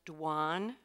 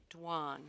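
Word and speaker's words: douane: give you the definition before you start it's pronounced dwan it is a building where customs and Duties are paid or collected or where vessels are entered and cleared dwan may I have the language of origin please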